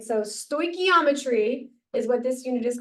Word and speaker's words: stoichiometry: called this is how you say it Ivan stochiometry all right so stochiometry is what this unit is called or sto